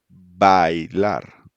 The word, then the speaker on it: bailar: So we have bailar. Bailar. Yeah, so you make the both of the sounds a e, but like closer or like faster. I. Ay. Yes, bailar.